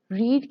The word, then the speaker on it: read: First form की pronunciation रीड है और सेकंड और थर्ड फॉर्म की प्रोनाउंसिएशन रेड है जो कि एक कलर भी है।